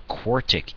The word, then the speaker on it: quartic: A quartic equation, that's how you pronounce one with largest exponent is a 4, might have 1, 2, 3, 4 possible answers out of it.